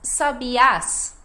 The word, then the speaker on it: sabiás: vai ser a última então sab a a sílaba mais forte é a última até porque tem o acento indicando então Sabi a agora